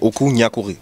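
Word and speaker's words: Okou Gnakouri: Comme on dit, on prononce bien, je veux pas massacrer le nom, c'est Oku Nyakuri.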